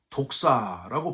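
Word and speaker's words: δόξα: 주로 하나님께만 쓰는 표현인데 히브리어로는 카보드, 헬라어로는 독사라고 발음을 합니다.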